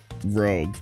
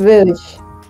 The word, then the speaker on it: Rouge: I'm such a nice guy that I'm giving Rogue to Cassie. Whoa. Because are you I'm sure if you can't even yes, pronounce because, her name right? Because it's Rouge.